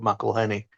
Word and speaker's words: McElhenney: I guess it's cuz everyone kept pronouncing it wrong cuz it's Rob McElhenney.